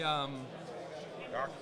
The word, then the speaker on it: Doc Ock: But I can see OCT and then just not really pronounce the T. Just say Doc. Correct. Right. I Doc.